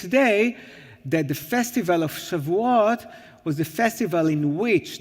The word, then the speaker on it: Shavuot: So Shavuos, as some people used to call it, or Shavuot in the more modern Israeli pronunciation.